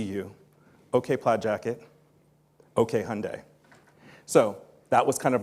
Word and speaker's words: Hyundai: to say the name it's Hyundai like Sunday or in this C we